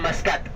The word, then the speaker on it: Muscat: Bapak Ibu sekalian, Oman ibu kotanya Maskat, tulisannya Muscat, bacanya Maskat.